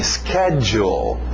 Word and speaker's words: schedule: Lembra o SCH de escola? School, aquele som do K, então o som de K aqui também. Schedule.